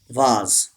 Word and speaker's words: vase: Number seven, vase. This S gives the sound of Z, vase, and this A gives the long sound, vase.